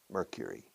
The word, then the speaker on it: Mercury: Mercury is hotter than Jupiter because Mercury, fíjate en la pronunciación, cure. Una cura, cure.